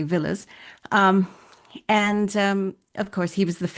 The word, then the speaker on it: Villiers: Um, and she was related to the very famous, the very infamous George Villiers or Villiers, depends on how you want to pronounce it, but I usually say Villiers.